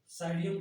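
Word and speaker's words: Psidium: साइडियम guava, इसमें P silent होता है, साइडियम गुआवा।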